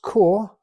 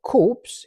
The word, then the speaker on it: Corps: lanard the core now it's pronounced core and not corpse even though it's written corpse because it's a French word and it's the French